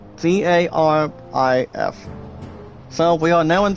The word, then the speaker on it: Garif: Griff, guys, is pronounced Garif.